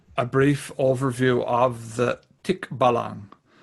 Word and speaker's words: Tikbalang: brief overview of the tick ballon yeah that's the the proper pronunciation i have a filipino